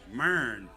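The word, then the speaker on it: Marion: Do y'all know how to pronounce that? No, it's Marin.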